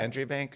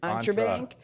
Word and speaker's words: Entre Bank: um how did we how did we pronounce Entre Bank when we first met Melissa entry bank or entry Bank like that she's like no it's like for entrepreneurs it's Entre Bank we're like oh yeah